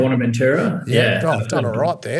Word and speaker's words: Buenaventura: How do you pronounce that? Buenaventura. Is that right? Buenaventura.